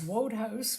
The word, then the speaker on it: Wodehouse: That is Wodehouse, pronounced Woodhouse. His name was Pelham Grenville Wodehouse, W-O-D-E House.